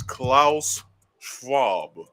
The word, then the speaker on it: Klaus Schwab: because he's german it's klaus schwab that's how i say it because that's how he says his name and that's the correct